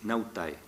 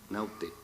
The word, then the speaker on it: nautae: En la Edad Media no se decía rosa, rosae, sino rosa, rose, no se decía nauta, nautae, nadie hablaba de marineros, nautae, no, naute.